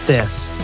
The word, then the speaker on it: Thyst: So it is pronounced Thyst. Okay, I've actually never officially met Thyst in person. Thyst, or over, that show. Thyst. Hey. Nice to meet you. Or it rhymes with fist.